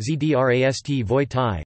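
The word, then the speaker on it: Здравствуйте: Try learning the words, phrases for hello equals Zdravstvujte, pronounced Zdravstvoyte, Zdravstvujte, hello, less formal, equals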